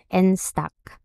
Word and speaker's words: Enstack: Itong instock ha ano ano tamang-pronounce nito? Nstock.